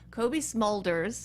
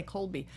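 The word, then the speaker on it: Cobie Smulders: So I play I say her name wrong. Kobe Smulders. I keep wanting to say Colby.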